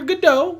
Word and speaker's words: Gadot: listen to people uh i hear godot i heard godot like waiting for for the longest time and now everyone says gadot and i was not